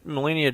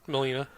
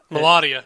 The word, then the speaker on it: Melania: one that was molina melania trump what how are you pronouncing her name melina millennia melania thank you something there's a aliyah at the end of it yeah he's right um